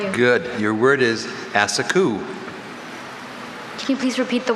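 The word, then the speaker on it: assacu: Asaku. Am I pronouncing it close?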